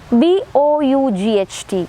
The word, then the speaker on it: bought: And this English language is a language which shows a remarkable difference between spelling and pronunciation. We can see one example written here, B-O-U-G-H-T, it is bought, or B-R-O-U-G-H-T, it is again uttered as brought, whereas E-N-O-U-G-H, that is uttered as enough.